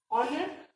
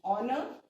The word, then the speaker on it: honor: So honor vowel sound hai. So it's an honor to have such a friend like you.